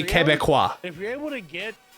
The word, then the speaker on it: Quebec: Oh, you're supposed to pronounce it Quebec. So that word would be Quebecois.